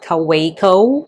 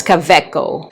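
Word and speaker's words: Kaweco: It's not caveo, it's caveco.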